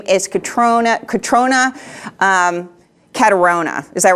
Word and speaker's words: Cathronia: Her name is Catrona. Is that right? How do you say her name? I think her family in Ireland says Cathronia. Cathronia. But her friends in California generally call her Cat.